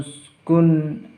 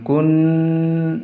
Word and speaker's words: uskun: Wa qulna ya Adamu uskun, bukan kun, itu tidak boleh, itu dinamakan samar, tapi harus jelas.